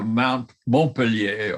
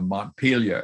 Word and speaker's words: Montpellier: on a midnight train to Montpellier, or Montpelier as it's pronounced in English.